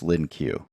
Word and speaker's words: LINQ: My understanding is that the proper pronunciation is LINQ. I'm going to call it LINQ, however, which a lot of people do. I just can't get myself to actually say LINQ.